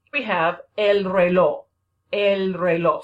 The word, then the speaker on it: reloj: El reloj. Sounds like an O at the end, right? The J is silent.